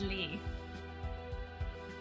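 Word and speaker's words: Lea: If you're in Kingdom Hearts land, it's pronounced Lee. We'll go with Lee then.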